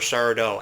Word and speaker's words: Sardo: and Mr. Sardo Accent on the dough.